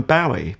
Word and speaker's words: Bowie: It's officially Bowie, but actually the man himself, maybe partly because it wasn't his name anyway, it's an assumed name.